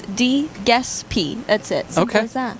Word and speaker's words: Giuseppe: Easiest way to make sure you don't mispronounce it is DeGespy.